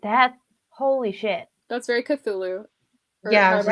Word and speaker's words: Cthulhu: That's very Cthulhu. Or Yeah, I was however just you say thinking it. that. Wait, that's not how you say it, is it? Cthulhu.